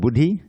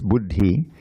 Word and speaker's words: buddhi: When you see a double letter, it's it's it means the the first syllable is heavy. Instead of buddhi, it's buddhi.